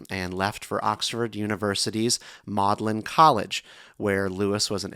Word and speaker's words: Magdalen: It is pronounced Mlin.